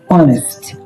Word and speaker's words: honest: So, this word the first letter is h, but we are not pronouncing h. It's silent.